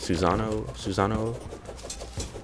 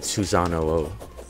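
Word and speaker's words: Susanoo: Susano? That's how you say it. Susano-o. It's an extra, like, O.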